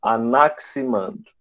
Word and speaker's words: Anaximandro: É tipo como tu fala táxi. Escreve T-A-X-I, mas tu não pronuncia taxi, tu pronuncia táxi. Então, Anaximandro é a mesma coisa. Se escreve Anaximandro, né? Mas se pronuncia Anaximandro, tá?